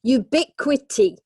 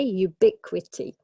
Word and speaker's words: ubiquity: tea is questions section ubiquity ok ubiquity pour syllables and ok what about